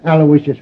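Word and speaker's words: Aloysius: Terrence Alawishas Hogan.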